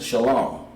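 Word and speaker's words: שלום: that word is peace this is the Hebrew pronouncation Shalom but in order to pronounce it we have to break it down into connectors okay Middle Earth shop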